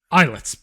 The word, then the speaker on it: Islets: actually completed is, and I don't know if I'm pronouncing this right, is eyelets. Islets. That's probably that's probably the better better pronunciation.